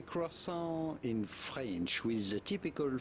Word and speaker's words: croissant: It'd be fine if you cannot pronounce the French R to say croissant.